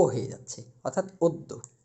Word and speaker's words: অদ্য: বদ্য আশা করি আপনারা সকলে বিষয়টি বুঝতে পারছেন যে তাহলে কি যদি অ থাকে শব্দের সূরথে এবং এরপরে ব্যঞ্জনের সাথে যদি জফলা থাকে তাহলে অ এর উচ্চারণ ও এর মত হবে।